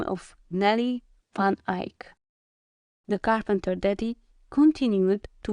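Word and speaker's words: Eik: the name of a which is pronounced Ike and it's dutch for Oak when before his neighbors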